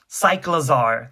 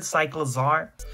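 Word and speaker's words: Cyclizar: Cyclozar. That's how you say it. Like a cycle, but a lizard. Cyclozar.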